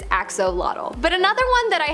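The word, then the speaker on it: axolotl: we have the Axel there is much speculation as to how to pronounce the name of this creature but for the most part most people believe that it is axolot but another one that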